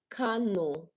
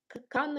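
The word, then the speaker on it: Kano: Cano Cano Cano. Okay, thank you. Thanks for correcting me now. Cano is a state in Nigeria.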